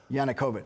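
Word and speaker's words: Yanukovych: No for no the former president of Ukraine yanukovich yanukovich who I have no relationship with whatsoever although you were in the Ukraine working for one of yanukovich's opponents and a different party you were working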